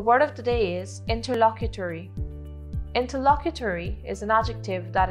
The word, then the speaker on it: interlocutory: of the day is interlocutory interlocutory is an adjective that is spelled i n t e r l o c u t o r y interlocutory interlocutory is pronounced in tur la queue tori interlocutory means determining a